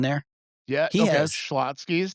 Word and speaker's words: Schlotsky's: And Shalotsky's Deli. You ever eaten there? Yeah, He okay, has. Schlotsky's, there's no extra letter in between.